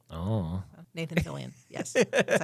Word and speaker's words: Nathan Fillion: Nathan Fillion, yes.